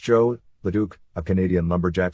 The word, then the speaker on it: Jos: at the time against Jose pronounced Joe the Duke a Canadian